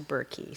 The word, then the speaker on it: Burkey: It was anglicized to Burkey, so that's why I have a name that rhymes with turkey.